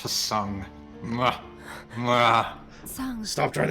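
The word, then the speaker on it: Tseng: Hey, Sung. We finally see him. Let us on a merry chase. It's pronounced Tsung.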